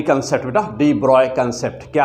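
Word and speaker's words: de Broglie: अब यहाँ से तो डी ब्रोगली कंसेप्ट बेटा, डी ब्रॉय कंसेप्ट क्या है बेटा, देखो हम लोगों को MV की ज़रूरत है ना।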